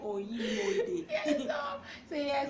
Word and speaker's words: Onimode: he has to pronounce it Oyimode.